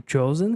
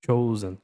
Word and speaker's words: chosen: O chosen que tá em azul, olha só, a pronúncia cho. Chosen. Chosen. É assim que se pronuncia a palavra chosen.